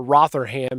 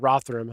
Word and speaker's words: Rotherham: your names over there I'd call it Rotherham here in America but rotham I think is how you say it to abuse them are